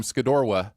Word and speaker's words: Skidorwa: We do have a confirmation, by the way, from Skidorwa that it is W, not V. It is said with a W sound.